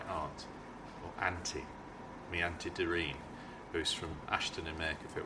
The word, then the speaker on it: Doreen: "Hello, Doreen," he said, in a quiet, almost sleepy voice. He pronounced her name as her mother did, with the accent on the first syllable.